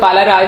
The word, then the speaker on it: Balaraj: कुछ जैसे BALARAJ था तो हम लोगों को लगा कि ए में भी वो साइलेंट कंसीडर हो, तो इसलिए हम लोग बालाराज नहीं बलराज बोला, क्योंकि बलराज हम लोगों ने सुना।